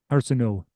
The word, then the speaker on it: Arsenault: The LT isn't pronounced. Quebecers struggle with the L's and the T's. Honestly, Wow. it's Arsenault.